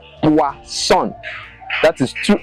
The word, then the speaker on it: poisson: But when it is two S, it is pronounced as S, as in boisson. Poisson.